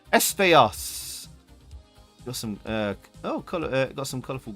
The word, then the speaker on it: Espejos: But Espejos, because the J is silent in Spanish, isn't it? Espejos.